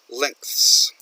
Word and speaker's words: length: He adds a syllable, lengths. Okay, do not use this part, or do not add that. It's length. The original word is length, and then lengths, not lengths. Okay.